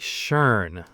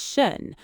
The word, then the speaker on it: schön: Oh, Max, you said shern. I thought that was how you say it. S H O with the dots N. Shern. That's what is shun. The word is shun and it is not shern.